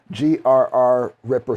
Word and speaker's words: Grr-Ripper: I like these I guess this is called a a Grr-Ripper. G R R Ripper system. Literally, it's spelled G R R {slash} Ripper. So, I guess it's Grr-Ripper system.